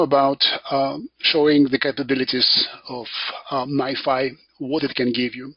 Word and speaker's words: NiFi: so let's get started so MiFi that's how it gets pronounced it's distributed data flow